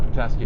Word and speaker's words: Petoskey: Yeah, Petoskey.